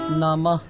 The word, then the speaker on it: নমো: গোবিন্দায় গোবিন্দায় নমো নমো নমঃ। এই দুইটি একটু উচ্চারণ ভিন্ন আছে, কারণ এটা হচ্ছে ম ওকার মো, তাহলে এটা উচ্চারণ হবে নমো।